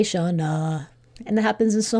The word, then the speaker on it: Shawna: So in my name ends at a, so it should be Shawna, but we say Shawna.